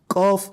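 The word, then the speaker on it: قاف: Similarly, we have qaf and kaf. So it shouldn't be pronounced as kaf or kef. No, it is wrong. You have to pronounce it as qaf.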